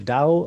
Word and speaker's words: Tao: perfectly into english so the older way that it was written was with t and the newer way that it's written is with a d and it's pronounced dao and it's something kind